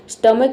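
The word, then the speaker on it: stomach: इसका मतलब हो जाएगा स्टमक में भी देखिए यहां पे एच लेटर साइलेंट है।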